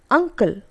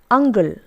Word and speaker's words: uncle: The correct form is uncle, but some people pronounce this as ungle. Instead of k, we use g.